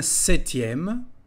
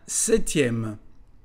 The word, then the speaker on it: septième: répéter avec moi un septième la lettre p ne se dit pas un septième puis nous avons un